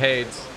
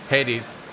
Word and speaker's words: Hades: of the bay of aids hades believe it's pronounced he's on a very